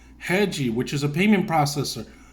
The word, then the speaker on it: Rede: came across the company hedgy it's it's not pronounced the way you were pronounced in English but they were pronouncing heji which is a payment